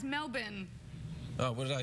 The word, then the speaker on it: Melbourne: Oh, that's You almost say it right. It's Melbourne.